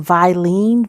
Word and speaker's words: Vilene: is a product called i think it's pronounced vilene v-i-l-e-n-e i think it is but i got it